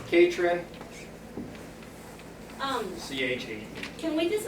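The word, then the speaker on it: Catron: again please it's catr o n pronounce Kate Hren um c18 can we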